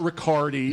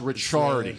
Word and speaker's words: Ricciardi: of your last name the exact pronunciation of my last name is richard ricciardi okay it's not ricardi it's richard okay cc goes to a ch okay see this is